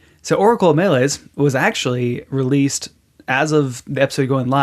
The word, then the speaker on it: Meles: So Jordan was on a while back to talk about his first game as a solo dev, uh, Oracle of Melees.